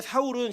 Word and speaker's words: 사울: 히브리식 발음은 사울, 헬라식 발음은 바울이에요. 똑같은 이름인데 그 구약이 실패했던 바울을 사울을 하나님께서 어떻게 구원하시는가를 보여주는 사건으로이 두 인물을 대비시키는 거예요.